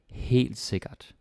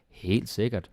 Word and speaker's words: helt sikkert: So, this one is very good and it's easy to pronounce. You don't have any r or soft d's or any ø or æ or like anything difficult. Super easy.